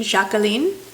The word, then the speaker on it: Jacqueline: of the bunch is Jacqueline or jacalene a lot of these have a French uh twist to them so we'll go with the French pronunciation jacalene and it's a creamy